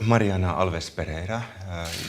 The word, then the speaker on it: Mariana Alves Pereira: so hello Mariana Alves Pereira Europe professor with law Sephora University in Lisbon Portugal is it rightly pronounced great nice to have you here in